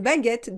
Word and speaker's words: baguette: un accent d'accord très bien on continue une baguette des baguettes on ne prononce pas le but le eu est nécessaire